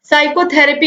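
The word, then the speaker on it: psychotherapy: दोस्तों साइकोलॉजी हो चाहे साइकोथेरेपी हो, दोनों में ही पी साइलेंट है, तो ऑप्शन सी जो है ये राइट आंसर है।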